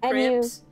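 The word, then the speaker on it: crêpes: like specially for making Crepes sorry crpes you don't have to do that for the sake of this discussion we're calling them Crepes but just no that's proper pronunciation I I was trying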